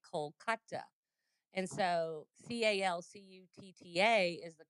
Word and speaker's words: Kolkata: But if you go to India, they say Kolkata. And so Calcutta is the colonial name, and Kolkata is the less colonial name, right? So that's why when you go there, they don't say Calcutta, they say Kolkata.